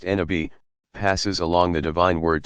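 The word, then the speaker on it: نبي: Every prophet, Nabi, pronounced Nabi, passes along the divine word to a particular people and inevitably meets with tremendous resistance, at least initially.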